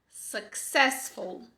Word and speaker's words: successful: Successful. Successful.